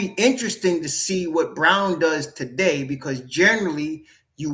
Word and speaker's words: Braun: Is the name look like it's Braun, but it's really spelled it's pronounced brown, right?